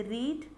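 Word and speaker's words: read: कुछ वर्ड होते हैं जो कि सेम ही रहते हैं, जैसे रीड, लेकिन प्रोनाउंसिएशन उसकी चेंज हो जाती है। रीड को हम सेकेंड फॉर्म में रेड बोलेंगे, थर्ड फॉर्म में भी रेड बोलेंगे, और फिफ्थ फॉर्म में आप बोलेंगे उसको रीडिंग।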